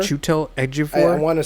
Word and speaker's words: Chiwetel Ejiofor: And I can never pronounce his name. I think it's Chiwetel Ejiofor. Chiwetel Ejiofor.